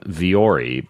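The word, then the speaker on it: Vuori: look really good that's what I like about viori though is I can also wear these uh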